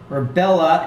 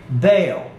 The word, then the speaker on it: Bel: Page 130, Bella, a spell spelled B-E-L, is usually pronounced Bell, but both Strong in the Hebrew dictionary and Pfizerbend in his prefer to say Baal. Baal or Bell.